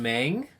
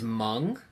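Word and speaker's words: Meng: That you mentioned Mang. It's Mung, Mung, and we had that chat with Scott Hards of Hobby Japan.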